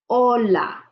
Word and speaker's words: Hola: Again, H is mute. You don't have to pronounce it. Hola.